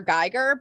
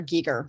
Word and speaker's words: Giger: Geiger, but his name is actually pronounced H.R. Giger.